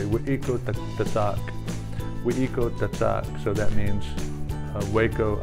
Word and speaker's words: Waco: The way that a person would be pronouncing Waco here in Waco 200 years ago would be Weiko. So it's like we, like in with, and eco, like eek.